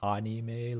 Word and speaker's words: anime: Do you guys say anime, like anime, and then like I say anime like a real Japanese person? Anime. You pronounce it like Spanish.